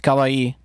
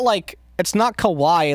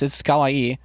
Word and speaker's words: kawaii: It's like, it's kawaii. Kind of like acai, like the bowl, like the fruit. The bowl, no, the fruit. It's not kawaii like Kawhi Leonard. It's kawaii.